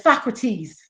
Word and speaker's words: Socrates: he said, Michael, that's Socrates.